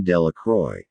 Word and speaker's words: de la Croix: harry jones and dickie de la croix the villagers pronounced this name delacroix eventually made a great